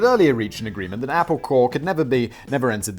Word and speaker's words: Apple Corps: corporations maybe but like it's supposed to be you know it's spelt like corpse like uh uh you know like the military court but it's so it's apple core uh co-owned by the